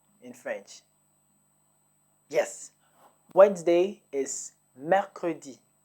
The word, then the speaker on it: mercredi: Wednesday is Mercredi. Mercredi.